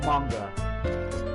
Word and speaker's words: manga: It's pronounced manga. I have been told, so.